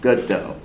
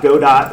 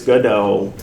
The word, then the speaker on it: Godot: And first thing it is pronounced goodo. Uh this this is a project of French origin. So it's not Merlot, it's Merllo. not Go Dot, it's GoDA. Um though, uh some YouTubers will call it GoDaddy, and I'm okay with that, too.